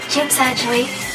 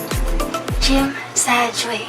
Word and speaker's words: Tsim Sha Tsui: Then we rode a bus going to, it's pronounced as Tsim Sha Tsui. Tsim Sha Tsui.